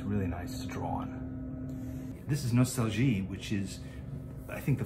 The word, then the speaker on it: Nostalgie: sketchbook form and this apparently it's pronounced nostalgi as opposed to nostalgia i guess that's german makes sense honorable is a german